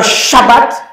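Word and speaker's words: שבת: Mais comme on a combiné les deux, là, le premier bête qui est là, ça se prononce pas B, ça se prononce quoi? V.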